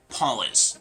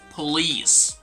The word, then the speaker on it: police: This is not going to be polis. People actually confuse this word with policy. Okay? Policy is a different word. This one is going to be police, right?